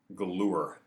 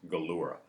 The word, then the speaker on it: Galura: friend of mine named Albert Galure. Galura, I want to say his name right. Albert Galura.